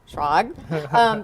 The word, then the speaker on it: Schrag: What I like is that everyone can pronounce it here. It's it can be surprisingly. Schrag. So Ben Schrag, tell us a little